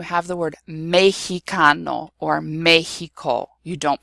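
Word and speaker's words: México: But in certain words of Mexican origin, it is pronounced H. So when you have the word Mexicano or Mexico, you don't pronounce it as an X.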